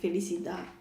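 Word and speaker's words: felicità: So yeah, felicita, felicita. You can pronounce it in different way, but normally it is like felicita, like more like felicida, wise.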